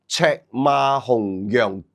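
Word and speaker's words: 赤馬紅羊: Chek ma hong yang kip. This is the Chinese pronunciation.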